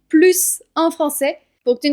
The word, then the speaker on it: plus: Quand le mot plus se trouve en fin de phrase, ou en tout cas sans aucun autre mot qui le suit, alors le S se prononce. Par exemple, on peut dire « c'est le livre que j'aime le plus ». Là, tu entends clairement que je prononce bien le S.